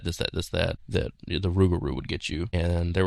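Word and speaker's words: rougarou: So, Lugaroo in French, Rugaroo in French Cajun.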